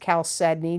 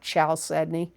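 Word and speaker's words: chalcedony: And it is pronounced Caledney, not Chaledney.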